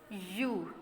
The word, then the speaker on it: ewe: यू. यहाँ बेटा spelling में मिस्टेक है. EWE. Please correct it. EWE. यू. EWE. It sound of यू. The word वी pronounce यू.